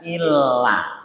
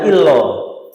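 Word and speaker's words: إلا: Ha illa. Bukan ha illo. Kan kata sing mau ngeten. Asyhadu an la ilaha illo. Betul ya? Ha illallah. Kan ngeten ya? Ini bukan lo tapi la.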